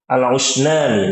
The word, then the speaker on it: Al-Usnani: Nah, kemudian Imam Ubaid bin Assabbah itu punya murid ya namanya Ahmad Alusaini ya atau Ahmad Alusani Alusnani, maaf Ahmad Al-Usnani nah Imam Ahmad ini Ahmad Al-Usnani ini punya dua murid juga yang terkenal adalah Al-Hasyimi dan Abu Thahir.